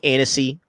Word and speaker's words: Annecy: James Gunn talks about the DCU at the Anarchy Film Festival. If I said it wrong, Annecy, if you guys want to really correct me like that.